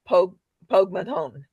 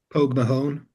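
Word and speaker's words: Pogue Mahone: And I realize that I have mispronounced uh Pog Pogmadon. Uh would someone else like to pronounce it correctly? Pog Mahon and Shane McGawan.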